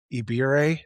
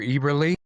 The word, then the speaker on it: Eberle: Hunter Ibire, I don't know if I'm pronouncing that right. Probably not. Hunter Eberle. Eberle. Oh, I just Yeah. typed it wrong.